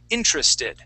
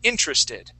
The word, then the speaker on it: interested: The first word is going to be interested, all right? So our accent is actually going to go at the very beginning. Instead of in the middle of the word, we say interested.